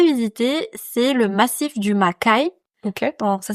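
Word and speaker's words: Makay: Et puis un troisème endroit que je n'ai pas encore visité mais que j'aimerais visiter, c'est le massif du Makai. OK. Donc ça s'écrit M A K A Y.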